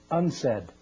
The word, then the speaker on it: UNCED: Nations committee for environment and development it is pronounced UNS said and perhaps indicating the secret agenda of this